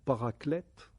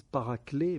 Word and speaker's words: paraclète: Sauf que paraclétos ou paraclète, certains en français ils disent paraclé, mais bon, on devrait prononcer le T parce ça vient du grec.